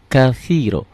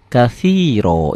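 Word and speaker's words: كثيرا: jangan kabira ya kabiro walhamdulillahi katsiro walhamdu lillahi katsiro ini pakai o semua ya silakan tulis lagi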